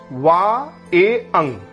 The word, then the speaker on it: vingt et un: 21 means वा ए अंग, वा ए अंग, वा ए अंग। इसी प्रकार 31 का फ्रेंच प्रोनाउंसिएशन के लिए हम 30 + 1 के रूप में इसको लिख लेंगे।